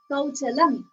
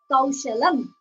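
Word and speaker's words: कौशलम्: So the pronunciation, he said Kauchalam instead of Kaushalam.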